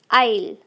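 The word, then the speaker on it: I'll: तो दोस्तों, जब आपको कहना होगा आई विल, I space WILL, विल, आई विल, तो इसको हम शॉर्ट में कैसे बोलेंगे? आइल, आइल, आइल।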